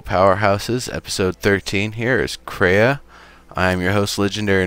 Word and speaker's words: Crea: Of course, I feel like a lot of the draw for the game is pronounced Crea or Crea? Crea.